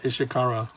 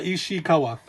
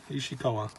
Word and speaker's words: Ishikawa: to guy and um another manga mangaka ken ishikara is i'm sorry did i mispronounce it uh i got another book here on this side yeah ishikawa ishikawa so because when you look through initially it's